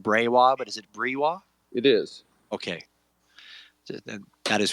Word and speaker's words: Breiwa: And at the beginning, I just wanted to get your pronunciation, because I've been saying Breiwa, but is it Breiwa?